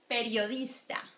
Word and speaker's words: periodista: Periodista. Periodista. Good? And you can tell that this is the strong one, right? Periodista. The O is stronger.